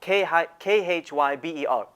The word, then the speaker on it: Khyber: them the hybrid pass as it's called k-h-y-b-e-r or the or the or the kyber pass as is as this anglicized pronunciation is the Khyber Pass is a mountainous pass